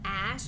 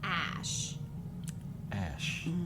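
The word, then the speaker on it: Æ: I think he said Ash it's pronounced the the letter X and then the AE is pronounced Ash Ash so I think they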